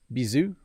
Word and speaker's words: bisous: So, bisous. I don't think I pronounced the S.